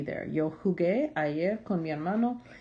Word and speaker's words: jugué: So if it's in front of a U, though, it's pronounced with a hard sound, the G sound.